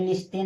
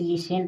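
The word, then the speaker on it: listen: टी एन इसमें देखिए बहुत विद्यार्थी गलती करते इसे क्या पढ़ते हैं लिस्टेन लेकिन लिस्टेन नहीं इसे लिसेन पढ़ा जाता है टी साइलेंट होता है लिसन माने सुनना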